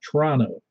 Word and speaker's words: Toronto: you go to Toronto, you're going to find out you're pronouncing it wrong because it's Toronto. You don't even really just say the T's. The other T's. It's Toronto, like Tron-O.